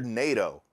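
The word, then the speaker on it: Neito: And then a lesser character, this character Naito, I think is how you pronounce it. N-E-I-T-O is how it's spelled when I saw it in the credits.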